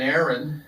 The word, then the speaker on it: Éireann: So the model of this harp is called an Éireann, and it's spelled E-I-R-E-A-N-N.